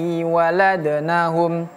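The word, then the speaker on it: وَلَدْنَهُمْ: Huruf dal kalau dia sukun ada qalqalah, ada walad. Illallai waladnahum.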